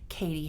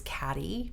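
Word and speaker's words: Cady: and her name is Katie Heron, but a lot of people mispronounce it as Caddy because it's spelled C-A-D-Y.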